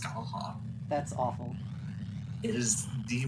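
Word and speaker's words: Scáthach: It's spelled SC, abbreviated A, or punctuated A. Yeah, a punctuated A, THACH. It's pronounced Skaha.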